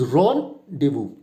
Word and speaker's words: rendezvous: So the one which is written in capitals, you have to give stress on that particular, and the if it is not there, then you have to avoid it.